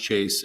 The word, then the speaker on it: Chase: It's pronounced Chase, just like the bank.